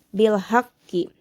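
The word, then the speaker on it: بِالْحَقِّ: Di sini memiliki hukum tajwid yaitu qalqalah kubro karena terdapat huruf qalqalah yaitu ko yang bertasjid. Sehingga dalam cara bacanya pun harus lebih ditekankan bil haqqi.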